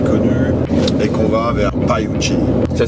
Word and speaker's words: Pioche: On avait envie de sortir un peu des sentiers battus, des circuits connus, et qu'on va vers Paiuchi. Ça s'écrit Pioche.